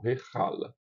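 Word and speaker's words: היכל: Aqui eu estou pronunciando Heichal, mas pode ser Heichal. Mas, como eu disse quando a gente tratou das matras lectiones, é que esse iod, junto com o tsere, ele não é pronunciado.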